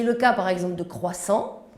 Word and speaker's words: croissant: cas par exemple de croissants prononcé khorassan en espagnol ou crêpe crêpes champagne